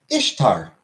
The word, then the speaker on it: Ishtar: it is not Diego Ishtar is pronounced if tar not Easter and beyond that uh